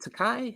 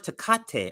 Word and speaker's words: Takei: George Tecate. I think that's how you say it. Tate. Tate. Ta. Tai George Takai. There's no T on it.